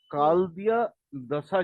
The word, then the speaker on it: कालदिय दशा: लेकिन प्रैक्टिकल से पहले प्रैक्टिकल से पहले यह काल दिया दशा जो है वो काल दिय दशा याद रखना इसका स्पेलिंग प्रोनाउंस काल दिय दशा तो काल दिय